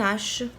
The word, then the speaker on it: hache: Pareil, U, N, E, H. Elle est muette.